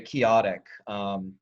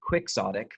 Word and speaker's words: chaotic: When all of this is very chaotic, which I just found out it's not pronounced quixotic, but chaotic.